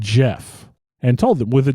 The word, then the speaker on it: Gef: out of the air I'd like to be known as Jeff and I'm going to tell you how to spell it it's GF by the way don't get that wrong because you tried to